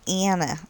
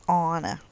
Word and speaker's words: Anna: They don't say Anna, they say Anna.